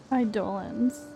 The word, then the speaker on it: Eidolon: Eidolons. That's how you say it for Hungry Star Rail.